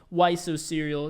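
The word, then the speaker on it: ysoserial: you might want to look into is called why so serial it's spelled like this that's a good one on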